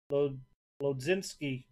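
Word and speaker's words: Mlodzinski: Pirates again, refractor, Carmen Lodzinski. I believe the M is silent.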